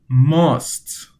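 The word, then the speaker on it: ماست: Now an word that you can say with the syllables must.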